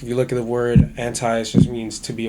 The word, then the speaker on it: Anti: And it's anti, not anti. It's whatever.